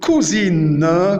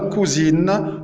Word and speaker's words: Cousine: On remarque, on a deux prononciations différentes de la lettre C. Une fois, il se prononçait K, comme dans le mot de cousine, cousine, cousine. Et une autre fois, il s'est prononcé C, comme dans le mot Celsius, Celsius, Celsius.